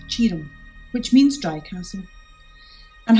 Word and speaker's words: Tioram: castle ghetto today I'm at Castle tum tum is pronounced Chum which means dry castle and has a few